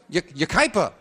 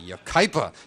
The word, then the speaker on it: Yucaipa: And the opening poem sent in by Ann Young of Yucaipa, California, watching us on... Am I pronouncing that right? Yucaipa. Pardon me, Yucaipa. Ann Young of Yucaipa, California, watching us on KNBC.